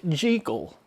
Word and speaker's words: Jekyll: Most Americans, myself included, have always pronounced the doctor's name as Jekyll, though Robert Louis Stevenson argued that it was pronounced Jekyll.